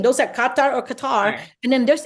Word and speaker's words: Qatar: the country's name um actually the locals will call it Qatar but some would say Qatar yeah that's what I'm saying those are Qatar or Qatar and then